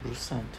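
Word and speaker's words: Brusatte: Como você pronuncia esse sobrenome? Broussard.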